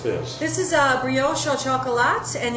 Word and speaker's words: brioche au chocolat: Now, how do you pronounce this? This is a brioche au chocolat, and it's a brioche dough wrapped around guittared